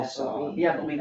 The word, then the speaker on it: Saab: Yeah, I believe it's S-A-A-B. S-A-A-B, right? That's FOB, okay. I would spell it like sob, F-A-A-B. Oh, but that's because it's not an English name, Saab, Yeah, right? They're Northern European.